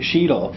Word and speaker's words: Sheetal: Sheetal.